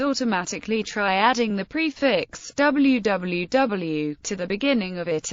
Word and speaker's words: www: In English, www is usually read as www. Some users pronounce it dub, particularly in New Zealand. Stephen Fry, in his Podgrams series of podcasts, pronounces it wh.